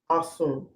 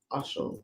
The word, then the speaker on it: Osun: Shango, and Yemoja and Osun. That's how they say it in West African, Alicia. And Dice Berkeley, it's Osun. Either way.